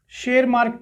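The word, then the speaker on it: Tschermak: शेरमार्क, T silent है, ये ध्यान रखिएगा, टी साइलेंट है।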